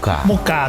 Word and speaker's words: MUCA: Mucha Cafe berarti Muri dan Mucha bacanya ngomongnya Mucha, tulisnya MUCA. Iya, jadi bacanya Mucha ya.